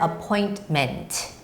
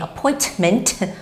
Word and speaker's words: appointment: So for example, the word appointment. Okay, appointment. Whenever there's a T in the middle, some people make the sound of a hard T by saying appointment, or for some Koreans, you say appointment, but that's wrong.